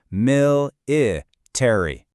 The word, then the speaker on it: military: And one more thing, pay close attention to the stress on that first syllable. Military.